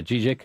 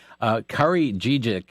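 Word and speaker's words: Kari Dziedzic: I hope that I'm able to pronounce her name correctly. I believe it's Kari Dziecic. Yeah, Dziecic. Okay. Kari Dziecic.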